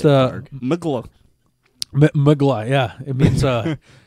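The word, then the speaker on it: Mgła: MGLA. It's pronounced Mgla.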